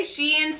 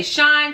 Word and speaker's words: Shein: I say Shein, some people say Shine, some people say Shen. I'm not exactly sure. I just say Shein because I think that's what it should be, and that's what I've heard other people say.